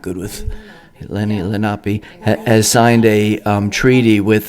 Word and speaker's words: Lenape: It's a children's movie, and it was based on an individual, a son who was taken by the Lenape, how do you say? Lenape.